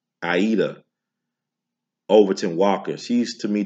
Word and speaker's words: Aida: I used to say her name Ida, but people say Aida. So we'll go with that.